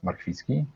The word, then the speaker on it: Marchwicki: that's tricky part because the real pronunciation is marquiski with a very strong r as we do in polish all right but how